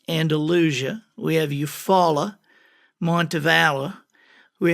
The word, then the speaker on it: Andalusia: I mean, most people don't know how to pronounce Andalusia. If anybody from the desert Southwest generally will say Andalusia, but it's Andalusia.